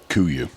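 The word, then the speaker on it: KUIU: How do you pronounce that? Kuyu.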